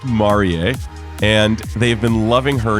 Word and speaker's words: Marie: Yes, it's pronounced Marier.